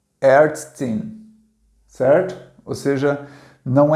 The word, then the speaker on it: Ärztin: E o A tremado se pronuncia um A misturado com E, certo? Um E aberto, tá? E ele se pronuncia E, certo? É A misturado com E, não é nem E e nem A, é E, ok?